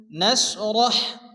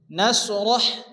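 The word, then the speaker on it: نَشْرَحْ: আলাম আলাম নাশরাহ, এখানে বড় হা আসছে, র এবং হা একসঙ্গে সংযুক্ত করে পড়তে হবে এবং হাকে মুখ দিয়ে বাতাস বের করে উচ্চারণ করে পড়তে হবে। নাশরাহ নাশরাহ, লাকা লাকা, সাদরাকা,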